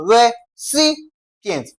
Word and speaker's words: recipients: C is the syllable that comes before what now? pients. Okay? So, the stressed part of this guy is what now? C. That becomes what now? Re cients. That is how it has been pronounced or stressed.